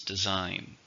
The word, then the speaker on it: design: a noun how many syllables design two syllables stress in a second design Adam designed and